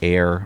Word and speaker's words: Ayer: Goes from Nasha, New Hampshire to downtown Air, Massachusetts. And we spell that A Y E R.